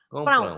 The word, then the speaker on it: compram: Compram. Au, au, au, au. Yeah. Compram. So Compram. you have to stress the com. You have to say compram.